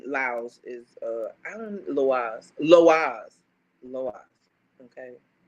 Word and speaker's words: loa: is uh I don't loas loas loas okay I don't know why I be trying to mispronounce that it's Lo but that's Haitian Spirits